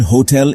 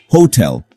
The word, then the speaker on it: hotel: the stress for example the word hotel is pronounced with the stress on the second syllable Hotel not Hotel misplacing the